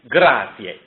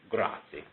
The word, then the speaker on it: grazie: Every vowel is addressed. So there is an I and an E at the end of grazie, so you want to make sure you sort of subtly hit the I and the E, rather than just grazie.